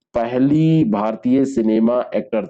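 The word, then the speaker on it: tsunami: बंदरगाह लहरों के नाम से जाना जाता है सुनामी इसको लिखा जाता है लेकिन यह जो सब होता है यह रोटी साइलेंट करके इसमें पढ़ा जाता है जापानी सब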